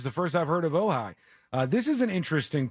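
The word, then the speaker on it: Ojai: Ohigh is how you say it. Maybe it's a city in California. Ohigh. Just for the record. OJ AI.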